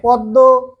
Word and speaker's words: পদ্ম: পদ্ম, হ্যাঁ পদ্ম, ক্লিয়ার? সবাই ক্লিয়ার? হ্যাঁ, পদ্ম উচ্চারণ করার সময় ও উচ্চারণ করি, পদ্ম রে।